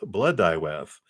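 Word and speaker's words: Blodeuwedd: the bloed whatever that oh it's pronounced BL dwth blood dth it means flower face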